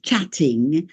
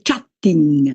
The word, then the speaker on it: chatting: When you hear people saying chatting, lo fanno all'italiano, ma anche i miei egregissimi docenti, diciamo non madrelingua, docenti di inglese, tendono a dire chatting, perché voi in italiano no, che io non so fare, questo raddoppio, questo calco, diciamo, questa enfasi sul doppio.